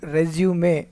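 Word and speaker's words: résumé: It is pronounced resume in American English.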